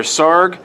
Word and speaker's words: Sarg: It says here, Sarg rhymes with arg, and he was the one who started this parade.